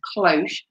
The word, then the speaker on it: cloche: again during wartime and its name is derived from the french word cloche which means bell so